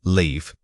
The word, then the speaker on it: leave: First, live. Compare it with leave. The long e sound is the difference.